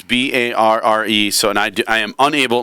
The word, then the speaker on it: Barre: So it's Barre, but it's just pronounced bar.